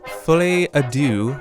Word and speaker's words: Folie à Deux: All right, so Joker, I'm going to pronounce this terribly. It's Joker Folie à Deux, I believe.